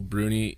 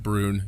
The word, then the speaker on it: Bruni: favorite people uh Nicole Bruni or brune sorry I found out it's pronounced brune not Bruni yes over the weekend